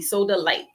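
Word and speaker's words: Sodalite: It looks like soda, SODA, and it's LITE, soda light.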